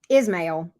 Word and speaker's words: Ismail: Ismail. Okay, I got you. You told me how to pronounce it.